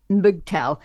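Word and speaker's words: MGTOW: fairly fairly well known that's pronounced boogtow men going their own way and it promotes the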